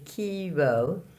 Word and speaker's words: chiaro: word for the day is first part is Kiro and then the second part is skewer the light and shadow